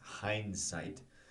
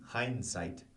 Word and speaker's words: hindsight: go back to hindsight h i n d s i g h t hindsight uh the pronunciation right we don't really articulate at least I don't um the D hindsight hindsight we kind of